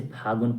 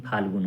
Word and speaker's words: फाल्गुन: महीना क्या होता है, फाल्गुन, जिसे फागुन फागुन बोलते हैं। लॉ को क्या कर देते हैं, साइलेंट, लेकिन फाल्गुन होता है।